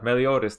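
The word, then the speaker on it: Meliodas: Yeah, Melotis. There you go. There you go. Now I pronounced it right.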